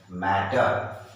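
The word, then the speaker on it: matter: Okay, अब ये क्या है, मैं, TTER, टर, मैटर, इसको मैटर बोलते हैं, लेकिन बड़े क्लास में जब जाओगे तो वो आर का भी साइलेंट, आर भी छोटा हो जाएगा, कम साउंड निकलेगा, मैटर। ओके, आर भी बाद में चुप हो जाएगा।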